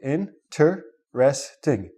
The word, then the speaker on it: interesting: interesting in tre sting find out what the syllables are so in tur sorry my mistake in tur resting if you want to emphasize something we have